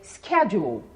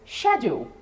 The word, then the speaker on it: schedule: Então, por exemplo, nos Estados Unidos, eu digo para minha agenda, para minha rotina, eu vou dizer schedule. Na Inglaterra, eu vou dizer schedule. Bem diferente, né? Schedule, schedule.